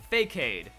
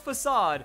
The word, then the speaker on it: Facade: the list we have number two fake aid oh yeah I went there I know it's facade but I feel like at some point we've all known that one person that refuses to drop it and just call it fake aid or you were there